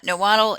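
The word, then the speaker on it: Nahuatl: look at some of these aztec terms uh niwal is the that's the pronunciation for the language of the aztecs it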